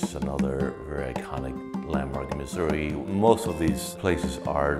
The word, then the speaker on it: Misuri: my body work uh title Missouri spell m i s r i because it's the way I pronounce it as a Spanish speaker and the idea of